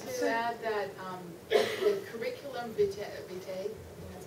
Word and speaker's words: curriculum vitae: I'd like to add that the curriculum vitae, that's how you say it, the CVs that